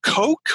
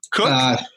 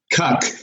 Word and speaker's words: Koch: get his name out so it's Coke or cook how do you pronounce that cook cook C okay so I just because different different